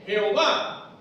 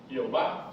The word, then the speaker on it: Jehová: En español se quita la H final, se le pone un acento a la A, y en Yahvé se le quita la H final y se pone un acento en la E.